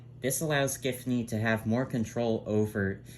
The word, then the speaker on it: Giffany: the ground this allows tiffany the work hold on giffany that yeah that's how i pronounce it this allows giftnee to have more control